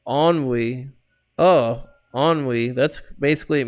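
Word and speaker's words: ennui: new word that you learned it's French it's pronounced onwe oh onwe that's basically it means you feel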